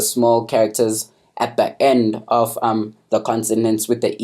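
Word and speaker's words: を: also wah-wah and then with the war character is that when it's in a word you probably pronounces as well but when it stands as a particle you pronounce it as o and yeah cool and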